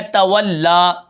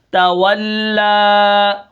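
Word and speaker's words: تولى: کلمہ ہے وہ ہے تولا۔ اب ہم اس کو کس طرح پڑھیں گے؟ اس کے ہجے کس طرح ہوں گے؟ تا زبر تا، واو لام زبر واللام، کھڑا زبر لا، تولا وقفاً تولا۔ اب یہاں پر دیکھیں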